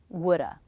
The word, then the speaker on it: woulda: is the schwa shoulda woulda coulda note that the L is silent in these words and they all have